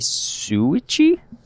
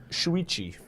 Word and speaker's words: Shuichi: This week we got Akai Suichi. You want to take a shot at that pronunciation? Shuichi.